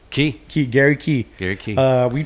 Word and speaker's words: Key: Today, well, how do you say your last name? Key.